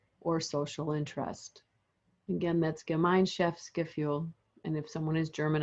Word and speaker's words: Gemeinschaftsgefühl: The word is German, and it means Gemeinschaftsgefühl, or it's pronounced, I should say, Gemeinschaftsgefühl.